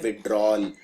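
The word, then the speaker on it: withdrawal: पे याद रखिए इसको लिखते हैं विथड्रावल लेकिन बोलते हैं विड्रॉल तो यह वाला जो ए है यह बोलने में आता नहीं है लेकिन यह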